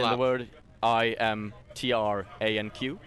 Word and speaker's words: Imtranq: The word IMTRANQ. Because I thought it was K at first. It's not. No, it's Imtrank. a Q. Imtranq.